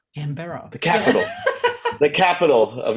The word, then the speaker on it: Canberra: cra I always say I always say right canbera Canberra the capital the capital of your wonderful country